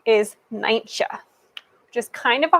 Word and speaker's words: Nijntje: So, in Dutch, Miffy's name is Nijntje, which is kind of a hard name to say, especially if you see how it's spelled.